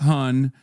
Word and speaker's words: hon: It's pronounced hun, but it's spelled han. H O N. And uh it's it's like um hun like hun han is when a trans